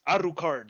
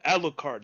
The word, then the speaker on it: Alucard: went into town say defending his name is not alucard it's aru card i was like oh god that guy says annoying just because they pronounce it that way in the show but the guy you know the guy who wrote it he he called him alucard and before uh before